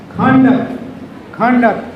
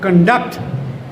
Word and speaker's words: conduct: When noun, conduct, ਤੁਹਾਡਾ character, ਤੁਹਾਡਾ behavior. And when it is verb, stress shifts to second syllable, conduct.